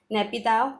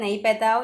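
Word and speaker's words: Naypyidaw: नैपीताव, ठीक है, नैपीताव या नैपीताव, आप जो प्रोनाउंस करना चाहते हैं आप कर सकते हैं।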